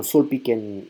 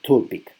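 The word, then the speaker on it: Zülpich: Sería interesante visitarlo, pero en este lugar, en Sulpic, bueno, Sulpic se pronuncia esa Z no es como Z, sino se pronuncia como una T, Tulpic.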